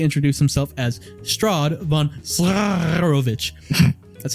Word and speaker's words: Zarovich: However, seeing that the fight was hopeless, the defenders dropped their weapons, allowing the figure to officially introduce himself as Strahd von Zarovich.